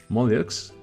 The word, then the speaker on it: mollusks: Mirar cómo se junta esa SCS, hay que hacer ahí una para pronunciarlo bien, mollusks, and arthropods, artrópodos, and echinoderms, equinodermos.